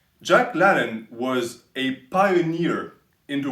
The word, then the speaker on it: Jack LaLanne: And I'm pronouncing it à la française. Americans would say Jacques LaLanne. Jacques LaLanne was a pioneer in the world of fitness.